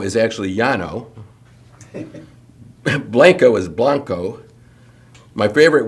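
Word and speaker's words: Llano: Guadalupe, not that that hard, but Lano is actually Yano.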